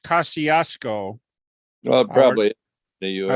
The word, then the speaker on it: Kosciuszko: the guy who organized the original Kosciuszko Squadron, went on to produce and direct the movie King Kong.